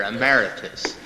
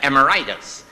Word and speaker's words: emeritus: appreciate this interim pastor ameritus I used to always uh pronounce that amortis I thought it was something like arthitis and after I did